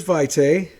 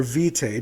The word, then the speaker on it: vitae: blood referred to as vitae or vitae depending on your pronunciation that's currently in their